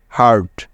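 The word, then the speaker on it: hurt: বলতে পারবে যে এখানে ইউ এর উচ্চারণটা কি হবে হ্যাঁ একদম ঠিক আকার হবে কারণ কি কারণ হলো দেখো ইউ এরপরে এখানে আর আছে তাই সুতরাং এইচ ইউ মিলে হলো হা তারপরে আর আছে যার জন্য নিয়ে নিলাম র এবং শেষে আছে টি তাই নিতে হবে ট ব্যাস এইচ ইউ আরটি একত্রে মিলে হয়ে গেল হার্ট হার্ট হার্ট অর্থ হলো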